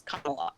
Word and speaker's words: Kamala: name but i think the correct thing to do is pronounce the name that she pronounced the name her name the way she pronounces it which is kamala so that's what i'm